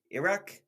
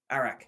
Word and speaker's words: arak: He was like, arak. Iraq? No, arak.